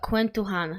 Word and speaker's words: KwentoJuan: So, uh, Quentan, I guess. So, yeah. Quentan, do you say all J's uh like J's in in uh all J's in Philippines are pronounced as a H?